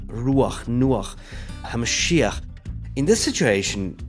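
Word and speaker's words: רוּחַ: And another rule, the accent always falls on the preceding syllable. So you would have YESHU'A, RU'ACH, NU'ACH, ha-ma-SHI-ach.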